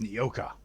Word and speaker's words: Nyoka: Not because of Is the that name smell or pronounced the as Nokia? grittiness No, in it's your throat. Nyoka.